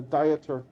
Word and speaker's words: Dieter: No, it's this is my name is spelled like this, like a person on a diet, a dieter, but it's pronounced like Peter with a D, Dieter.